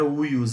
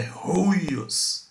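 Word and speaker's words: υἱός: Não é uios, é ruios, tá? Filho se pronuncia ruios, tá?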